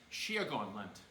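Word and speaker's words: Síocháin leat: And he taught us that, and it's pronounced Shiagon Lent, or for a large people, or for one person, Shiagon Lieve.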